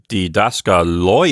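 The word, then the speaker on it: διδάσκαλοι: And it changes the pronunciation because now the sentence would sound like hoi didaskaloi esin. So when I pronounce that, I'm making sure that the last syllable of didaskaloi gets a nice accent on it.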